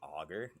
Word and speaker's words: agar: so I essentially use agar plates for long-term storage if you properly wrap an an egg you guys gotta forgive me for my pronunciation of agar to be honest in Michigan everybody says auger foreign because you you